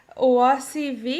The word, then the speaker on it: Oasi V.: indie comics and i am here today with oasi v is that right that's exactly how you you guys asked me how to pronounce my nickname and i didn't ask you